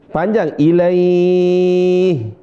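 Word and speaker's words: إليه: Nah, panjang ilaih. Kenapa kita panjang suara ilaih? ini disebut dengan mad lin.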